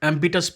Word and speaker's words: ambitus: I want to know a bit about this Ambitus project. And how do you say it? Ambitus, what is the right pronunciation? Yes, it's a Latin word, ambitus for compass.